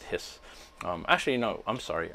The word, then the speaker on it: His: the Hispano here and this by the way is pronounced hiss actually you know I'm